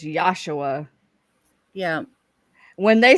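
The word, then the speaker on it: Yeshua: It's Yosua. Yeah. When they say don't say his name in vain, they don't mean Jesus. They mean Yosua.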